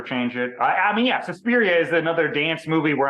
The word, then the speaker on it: Suspiria: Suspiria. Just try to imagine an Italian stereotype saying it. That's the right way to say it.